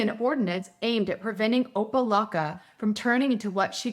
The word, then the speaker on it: Opa-locka: City officials in Opa-locka, sounds like Oompa Loompa, are following in the steps of neighboring city Hialeah.